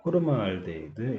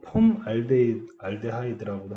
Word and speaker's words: 포름알데히드: 자, 포름알데히드 HCHO 포름알데히드예요. 뭐 폼알데하이드라고도 하는데 그냥 이게 뭐 영어 발음이라는 게 계속 시대에 따라서 조금씩 바뀌는 것 같아요.